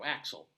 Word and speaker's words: Axial: So, Axial, Colorado. Axel, essentially, Colorado.